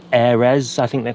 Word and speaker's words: aire: I think it's called an Airez. I don't know how that's pronounced. Air. Sounds very French. Exactly, it is French.